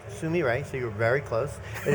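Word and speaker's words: Sumire: and tell me sum up for me what samira is and what the goal of it is Wow good question simi ray is first of all it's pronounced Sumi right so you're very close it is the Japanese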